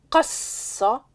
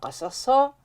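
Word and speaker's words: قصّ: S qui nous donne le verbe cassa et non pas Kassa qui est trop difficile à prononcer mais ça pour tout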